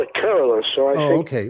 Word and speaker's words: Kerala: Switching from coal to renewables can save Kerala with 9,000 crore of rupees in 5 years.